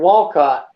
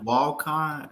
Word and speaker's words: Walcott: then you got the big one over in walcott walcott's the biggest truck stop in america oh